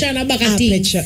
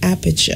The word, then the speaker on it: aperture: are just super like aperture. No, not say it like that, man. You have to say aperture.